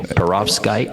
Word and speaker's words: perovskite: on the web you'll find there's variations of pronouncing this so I'm going to go with this and hope it's okay so perovskite that's p-e-r-o-v-s-k-i-t-e they found that it's better than